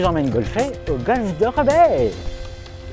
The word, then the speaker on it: Rebetz: Donc Rebet, c'est R-E-B-E-T-Z, mais se prononce Rebet.